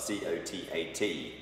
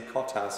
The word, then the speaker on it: Cotat: The most famous producer of Sancerre of all time, in my opinion, is Francois Cotat, which is spelled C-O-T-A-T.